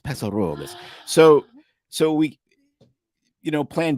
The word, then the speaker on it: Paso Robles: So you got to say it like the locals, Paso Robles.